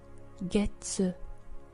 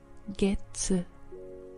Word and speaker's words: 月: And if we take a look, in this context, when we use month with the word yobi for day of the week, we pronounce it as getsu. Getsu.